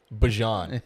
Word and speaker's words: Bijan: Yeah, Bijan. It's Bajan. That's what he said. Like you saw Bijan that mustard.